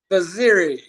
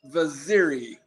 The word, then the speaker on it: Vaziri: I would say his real name, but I'm sorry, I can't pronounce it. Vaziri. One more time. Vaziri.